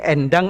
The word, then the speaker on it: Endang: Jadi ini endang bacanya. Endang. Ya, bukan en.